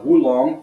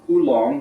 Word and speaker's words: Oolong: So, and then of course today we are going to be looking at a Wulong or an Oolong, depending on how you pronounce it.